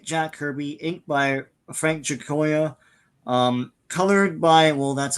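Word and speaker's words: Giacoia: how do you say the last name again jakoa jakoa yeah he he'll be doing a few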